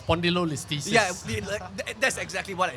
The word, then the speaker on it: spondylolisthesis: the medical term, correct me if I'm wrong, spondylolisthesis. Am I saying it right, or am I butchering it? It's spondylolisthesis.